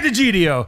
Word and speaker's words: D'Egidio: It's DiGiorno.